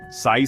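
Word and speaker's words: psi: quantum wave function जिसे Greek अक्षर पीएसआई उच्चारण साई से दर्शाया जाता है क्वांटम मैकेनिक्स का एक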